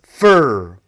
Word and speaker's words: for: For becomes fur.